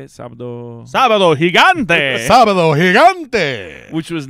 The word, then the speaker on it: Sábado Gigante: Sábado Gigante.